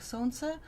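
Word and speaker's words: Сон: in Russian but um it pronounced like son and it means son so let's see what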